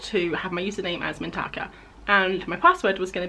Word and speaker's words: Mintaka: in it was called mintaka or mintika i'm not quite sure the pronunciation but i call it mintaka and mintaka is the